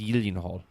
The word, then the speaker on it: Gyllenhaal: But it says Jake Gyllenhaal, Yeah. or how it's properly pronounced, Gyllenhaal. That's true. Swedish.